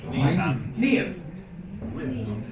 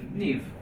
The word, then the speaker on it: Niamh: This Niamh. Niamh.